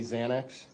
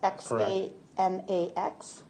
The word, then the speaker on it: Xanax: fields, you know that people commonly think it's really spelled with a Z. That's correct. Because of the pronunciation. Yes. Okay. So, a Z commonly refers to Xanax.